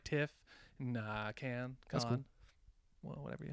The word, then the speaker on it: Cannes: I think us Westerners would say can. Yeah, okay. That's what con. I feel like I always say can. Yeah. The Cannes Film Festival.